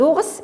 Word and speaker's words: ours: Des ours, on dit un ours, des ours, ici, on prononce le S, des ours, voilà, ici, donc le granit, on prononce le T, alors le granit, le granit.